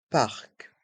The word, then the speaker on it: parc: le parc le parc dans ce mot on prononce bien le C parc le parc La Poste